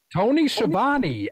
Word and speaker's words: Schiavone: How the fuck you pronounce it? Tony Schiavone, actually, really, damn.